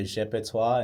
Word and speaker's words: GPTWA: music out on all platforms under Jeepto. And the way you spell it is GPTWA.